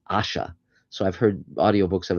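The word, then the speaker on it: Ayesha: Her name was Aisha, which H. Rider Haggard said should be pronounced Asha.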